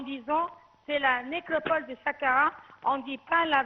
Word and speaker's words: Saqqara: Bon, premièrement, j'ai vu que vous prononcez bien l'histoire en disant c'est la nécropole de Saqqara.